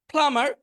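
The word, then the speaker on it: plumber: প্লামার পানির মিস্ত্রি, এখানে বিটা উচ্চারণ হবে না, প্লামার পানির মিস্ত্রি।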